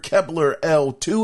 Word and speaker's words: Kepler L2: one being AMD leaker Kepler L2, his name is spelled Kepler, the letter L and the number 2, and the other being Moore's Law is dead.